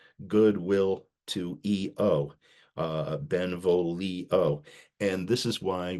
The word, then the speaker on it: io: The other interesting matter with this is that once Oxford becomes enamored of all things Italian, he realizes that EO, spelled IO, but pronounced EO, means I.